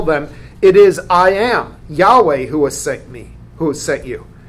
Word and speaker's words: Yahweh: God gives his name we think it's probably pronounced Yahweh we're not 100 sure but that is the